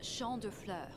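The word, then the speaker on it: Champs de Fleurs: uh while you're visiting Champs de floors how do you say that B it's sha FL it means Field of Flowers this is the place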